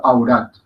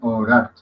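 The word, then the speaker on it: औरत: Pero la pronunciación, en líneas generales, tú puedes decir au y estás diciendo bien au. Por ejemplo, aurat. O puedes decir orat. Y ambas lo estás diciendo lo mismo.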